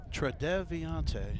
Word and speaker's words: Tredeviante: Tredeviante. It could be Tredeviante Hinchy. Okay. Got it. Tredeviante. There we go. It's a cool name. That's 5 syllables, Ed. Yeah. Tredeviante. Yeah, it is 5 syllables.